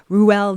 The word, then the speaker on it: Roald: I think people I know certainly say Roald Dahl, right? But the correct pronunciation is Roald. Roald Dahl.